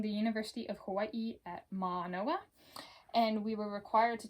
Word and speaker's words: Mānoa: This is not an apostrophe, it's in the Hawaiian language. This symbol right here is called an okina, and it's pronounced like a pause. And the line over the A is called a kahako. And so instead of Mānoa, it's Mānoa.